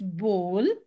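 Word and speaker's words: bowl: it's horizon plumber not plumber it's plumber b is silent menu data data name data cucumber wednesday wednesday wednesday and forget b-o-w-l is bull and d-e-b-r-i-s is not debris it is debris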